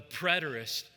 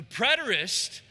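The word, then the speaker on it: preterist: Number one, the predtoist approach. The predtoist approach. If you're wondering how to spell that, p r e t er i s t.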